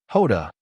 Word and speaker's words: Jota: Hoda is the Portuguese pronunciation of the letter J, making this equivalent to calling himself Dooo J.